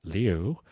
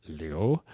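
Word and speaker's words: Liu: I do know Mandarin and I do know Cantonese and I do know that it is pronounced Leo. Um it's actually pronounced Leo.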